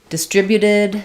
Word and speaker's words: distribute: in distributed um um first of all distribute um without the T we have d stri um second syllable stress we have the I vowels and the the B the U here is a y and an U but distribute second syllable and distributed change your final t for a flap distributed we distributed the